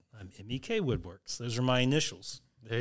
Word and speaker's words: MEK Woodworks: right and that is actually how it is pronounced not MEC lots of people say are you Mech Woodworks and I say no I'm not I'm MEK Woodworks those are my initials there you go yeah